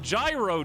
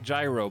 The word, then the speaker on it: gyro: loud this is murica it's gyro it's gyro around here excuse me then why is gyroscope like that it's not an american word it's not english okay it's greek the word comes from greek for turning which refers